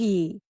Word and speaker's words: ई: The next vowel is the long ई spoken like the ई इन the word C.